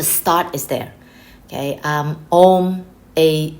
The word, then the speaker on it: Om: is there okay um om a u m om so even though some people spell it as o m the way of pronouncing it is om so like that so